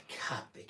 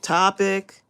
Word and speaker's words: Copic: about that it's not Copic it's Copic um of course the video is still up it's Copic Copic topic Copic topic how dare you say it wrong I will be calling